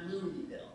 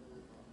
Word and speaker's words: Louisville: Okay, Louisville, but not Louisville. Mm. That's how you spot the tourists.